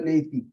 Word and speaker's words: neti: Don't call it neti. Some people have a tendency, because it is spelled as Neti. People tend to pronounce it as neti. It's not neti, it's neti. Soft T.